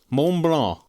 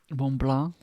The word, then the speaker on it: Mont Blanc: The Kit Kat we got this time is Mont Blanc. Mont Blanc? Mont Blanc. That's the pronunciation, at least based on what this one YouTube pronunciation thing says.